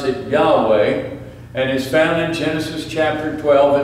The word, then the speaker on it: Yahweh: the name the Hebrews didn't pronounce it's we pronounce it Yahweh and his balance chapter 12 and verse 1